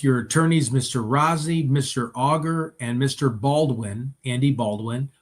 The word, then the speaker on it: Auger: Okay, so Rosie, and she sounds like a bottle of French, Miss Auger.